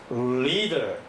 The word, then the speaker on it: leader: leader, 리 하면서 아주 강력한 음이 나오죠.